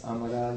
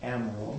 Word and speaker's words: Amaral: Our guest speaker today is Joan Amaral, and I'm pronouncing it this way. I just found out that Joan's background is Portuguese. Hence, Amaral, not Amaral.